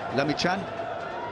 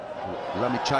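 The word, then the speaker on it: Lamichhane: to do the job lamian but he was lamich in fact that's how it's pronounced from Nepal 18-year-old Prodigy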